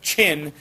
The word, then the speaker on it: Qin: as the state of chin which is where we get our name china today so this q i n is pronounced chin that q gets like a ch sound just like when we